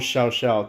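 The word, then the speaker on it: Cao Cao: the one the only ciao ciao now or shall shout depending on how you want to pronounce him i'm going to call him chow chow like the puppy uh if that offends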